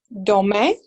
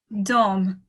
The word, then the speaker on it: dorment: Vous dormez. Good. Yeah. Il, elle, dorment. Dorm. Dorm. Yeah. Very good. Okay. I always forget that last one. I shouldn't pronounce last.